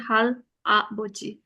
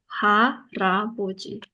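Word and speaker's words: 할아버지: Kalau tulisnya harus tetap seperti ini, hal a boji. Bacanya ha ra boji.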